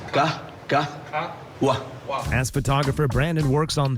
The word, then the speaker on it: Qahwah: Pronounce Qahwah for me. Qahwah. Listen, Qahwah.